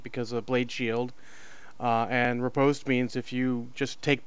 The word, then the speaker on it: riposte: And then he's got is that Reposit, or how do you pronounce that? Riposte.